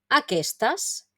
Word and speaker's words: aquesta: pronunciar No aquet aqus pero en el femenino sí aquesta o aquestas como hemos dicho